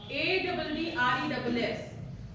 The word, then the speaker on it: address: So ADDRESS does it happens with this also?